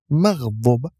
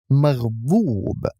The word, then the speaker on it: مغضوب: Likewise, we do not pronounce the waw, but the letter before it, dad, with extending the dhamma. It's not maghdub, it's maghdoob.